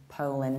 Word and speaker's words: Poland: Poland, Poland. Not so broad, a little bit more close.